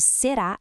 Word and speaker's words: será: A sílaba tônica de será é a última, o ra. Então é uma oxítona.